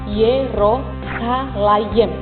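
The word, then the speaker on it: ירושלים: Kata Yerusalem dalam bahasa Ibrani itu diucapkan Yerosalayem. Dan ini terdiri dari dua bentuk kata.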